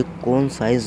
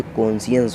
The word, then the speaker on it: conscience: यहाँ फ्रेंड्स, ये कौन साइंस नहीं होता, ये कॉन्शियंस होता है. प्रोनाउंसिएशन है रॉन्ग है.